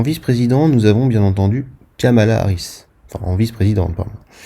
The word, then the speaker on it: Kamala: Ah et oui, attention, on prononce Kamala.